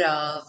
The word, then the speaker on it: of: Se você aprende get, aprende out, aprende of, com F, né? Porque se você não souber que a pronúncia é sempre V, você vai estar pensando em F, porque é